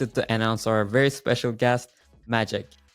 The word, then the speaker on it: Maciek: So for the 25 years of my career at Compact HP and HP, I was better known as Magic. That's the closest pronunciation to the Polish name of Maciek.